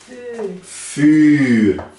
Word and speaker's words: vuur: Vuur. Vuur. Vuur. Wat betekent dat? Fogo. Fogo. Vuur. Então você pode ver que na pronúncia é um biquinho.